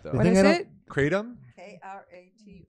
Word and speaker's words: kratom: K-R-A-T-O-M. Pronounced Kratom.